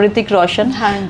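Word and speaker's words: Hrithik Roshan: Celebrities करते हैं जैसे ऋतिक रोशन है उसने एच लगा दिया ऋतिक रोशन। एच साइलेंट है बट यस चेंज किया है।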